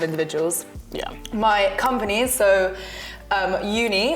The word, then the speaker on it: Youni: My company, so Uni, which is spelled Y-O-U-N-I, so it's like you, the personal side of university.